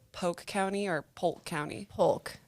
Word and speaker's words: Polk: Polk. You say the L. I make the L.